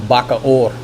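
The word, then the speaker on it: Bacoor: It's in Bakaor. That's spelled B A C O O R next to Las Pña, south of Manila.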